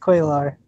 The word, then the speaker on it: Cuellar: It's pronounced Quaylar. Oh, Okay. I messed it up in the video one time, but I said it right the other two times. It's Quaylar.